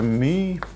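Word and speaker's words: μ: Egentlig så bruker vi den greske bokstaven her my på norsk så uttales det my og så gjerne skrevet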